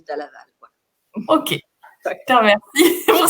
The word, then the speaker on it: Dalla Valle: Et en italien, c'est Dalla Valle et en français, on dit Dalla Valle.